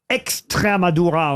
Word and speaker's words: Extremadura: Extremadura en espagnol, mais en français, ça s'écrit l'Estrémadure ou Madour, évidemment, mais en espagnol, il y a un X, mais pas en français.